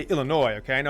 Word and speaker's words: Illinois: i know to pronounce i don't say illinois i say illinois okay i know how